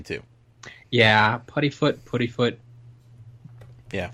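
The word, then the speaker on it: Puddifoot: Yeah, Puttyfoot. Yeah. Like it wants to be pudding, but it's not. Right. Puttyfoot.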